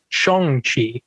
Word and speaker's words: Shang-Chi: Shang-Chi. That's how you say it, not Shang-Chi. Shang-Chi, and that's how he says it in the trailer, and that's Kevin Feige says it.